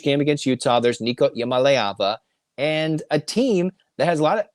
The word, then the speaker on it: Iamaleava: It's Nico Iamaleava. Okay. Iamaleava, right? Iamaleava? I mean, I believe so. I mean, I kind of go more E and emphasize that.